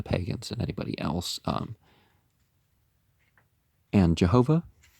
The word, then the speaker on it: Jehovah: And Jehovah, you pronounce it with a Y and a W, but instead of a J and a V, is so often called the living God to distinguish him from these.